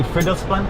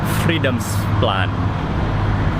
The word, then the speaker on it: Fridolfsplan: I think I was pronouncing that wrong earlier. Fridolfsplan. I think that's how you say it.